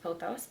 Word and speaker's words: pothos: are my paos so I think it's actually pronounced posos but I will insert some